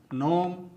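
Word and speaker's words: gnome: campaign campaign नौ नौ नोम नोम नार्ड नार्ड तो दोस्तों आपको भी साइलेंट लेटर जी से बने शब्दों का प्रोनंसिएशन इसी प्रकार से करना चाहिए दोस्तों अब आते हैं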